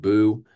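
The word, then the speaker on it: Buh: B-U-H, just pronounced Boo.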